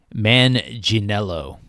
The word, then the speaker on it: Manganiello: The uh Google says you pronounce Joe's name Manello. Manello.